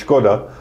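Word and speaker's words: Škoda: the right way that the czech way is skoda which means i mean shame that one i can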